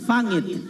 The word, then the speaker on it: pangit: Na, yung correct pronunciation, pangit.